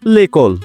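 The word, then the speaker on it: l'école: তাই রুলস অনুযায়ী লো বা লা এর পরিবর্তে যখন শব্দটি ভয়েল দ্বারা বা মড উচ্চারণ শুরু হয় তখন এলঅপস্টপ বসে। যেমন লেকল মানে বিদ্যালয়।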